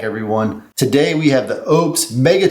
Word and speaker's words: Oupes: Lopez or up and nobody knew exact how to pronounce this word so now it's official this is Ops and they're trying to